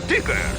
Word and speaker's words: Tigger: Mi nombre es Tigger. T-I-G-R. Se pronuncia Tigger.